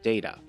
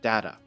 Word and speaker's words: data: It's the word data, or data, depending on the pronunciation.